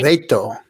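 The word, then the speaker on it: areíto: Arreto. Or is that my switching of letters? It's I can't spell it unless I'm writing it, but arreto is how you call it.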